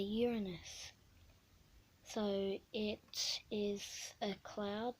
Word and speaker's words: Uranus: next is Uranus which it's not actually pronounced Uranus I really hate that name it's actually pronounced as a Uranus so it is a